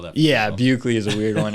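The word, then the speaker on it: Buchele: my Instagram is uh you have to spell that yeah bugley is a weird one it's b-u-c-h-e-l-e is it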